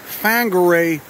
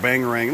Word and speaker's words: Whangarei: to you near uh whangarei New Zealand up there on the North part of the North Island looks like Wing array you could pronounce the Bangarang too so I've been calling it bang ring look at those roots